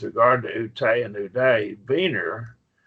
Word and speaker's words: Wiener: Wiener, now this is a German name, and a W is pronounced like a B.